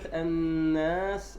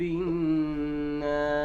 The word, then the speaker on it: الناس: والسين ساكنة حرف صفير قلنا مهموس رخو صح؟ نعم. ما الذي يحصل؟ أن بعض الناس، أنت الآن نطقتها بشكل صحيح، لكن الخطأ هنا أن بعض الناس يقرأها برب الناس. ماذا يفعل؟ يشدد السين. نعم. يشدد السين وهي مخففة ليست مشددة. هي مخففة وليست مشددة.